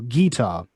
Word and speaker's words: guitar: So, for example, people who would pronounce not guitar, but stress on the first syllable, guitar, which is how they say it in a lot of southern US states.